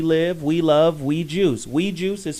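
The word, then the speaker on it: Oui Juice: Weed Juice is spelled O-U-I, right?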